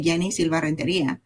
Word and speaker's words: Yeni Silva: A lot of people try to change the way they pronounce the name depending on where where they are. I say it I say Yenni Silva.